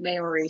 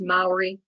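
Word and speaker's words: Māori: corrected very quickly when we started calling it memory so it is pronounced Mallory and I found there was a large Maori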